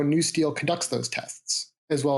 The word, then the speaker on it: NUSTL: urban security technology laboratory it's pronounced by its acronym new steel and we're DHS Science